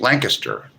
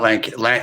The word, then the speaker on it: Lancaster: It's pronounced Lancaster, not Lan Lan.